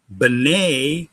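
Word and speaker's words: בְּנֵי: Now, this can be pronounced three different ways. Beni, which means my son. B'nai, which means sons of something or someone. Or B'nai, which is my sons, plural.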